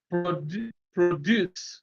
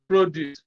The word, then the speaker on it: produce: So when it is used as a verb, stress is on the second syllable. When used as a noun, stress is on the first syllable.